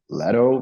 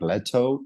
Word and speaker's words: Leto: what is funny that your last name it's like in America you pronounce Leto but if you would say it like in a English accent it would be like letto Jered letto and letto